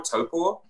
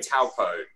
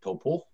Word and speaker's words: Taupo: it, and you said it's like toe, like the toe you have on your foot, and then paw, like a bear paw, toe paw.